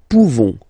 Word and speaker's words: pouvons: Nous pouvons. Nous pouvons. Okay? You don't pronounce the final S.